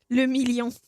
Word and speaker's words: Le Million: Le Million. The million. If it doesn't rhyme, you're not pronouncing it right.